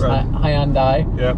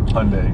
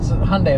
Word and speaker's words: Hyundai: with Sunday so it's Hyundai and apparently that was a mistake by the original General the general manager who uh came out and said look just pronounce it Hyundai like Sunday and that wasn't something